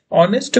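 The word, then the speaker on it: honest: जो ऑनेस्ट मैन है, ऑनेस्ट में जो एच रहता है ये क्या रहता है, साइलेंट रहता है, जिसकी वजह से यहाँ इसको हमेशा केवल केवल क्या प्रोनाउंस किया जाता है, ऑनेस्ट प्रोनाउंस किया जाता है।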